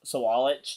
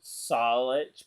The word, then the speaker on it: Walich: But, yeah, so Walich there, I think that's how you're actually supposed to pronounce it, by the way. So Walich, not Solich, but...